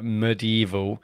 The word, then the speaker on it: medieval: wanted to confirm that yes Americans do say uh medieval with only three syllables perhaps Matt picked up